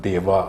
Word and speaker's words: Dev: Well, it really is Dev, and when I write my name, I still write it D-E-V, Dev. But as you know, when Indians pronounce Dev, it sounds a little like Dave to Australians.